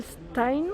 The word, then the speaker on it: Stein: Donc, c'est le modèle Stein, ça se prononce comme ça, à 69,95 €.